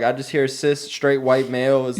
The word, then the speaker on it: cis: So the only time that cis? Cis is like when you are it's is when that how you say it, cis? Cis, yeah. Okay. How you been saying it? Kiss.